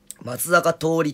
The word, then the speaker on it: 松坂桃李: さんもすごいしね ed 甘さ松坂桃李って読むよそうなんだツリー